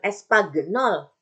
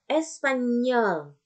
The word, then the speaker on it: espagnol: Ini bukan diucapkan espagnol. Nggak indah ya bahasa Prancis kalau kayak gitu kan. Ya. Tapi Espanyol. Nah, manis kan?